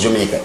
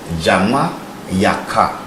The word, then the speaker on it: Jamaica: So it's not pronounced Jamaica. It's a Jama-Yaka."